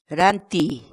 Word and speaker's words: rantiy: série de vídeos onde nós ensinamos você a pronunciar determinadas palavras em Quechua. Portanto, a nossa palavra do dia para hoje é Ranti, ranti, ranti.